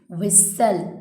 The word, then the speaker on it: whistle: Whistle, हम इसको whistle बोल रहे हैं, लेकिन T इसमें साइलेंट होगा। लिखने में तो आएगा लेकिन बोलने में नहीं आएगा। इसको क्या बोलेंगे हम, विसल।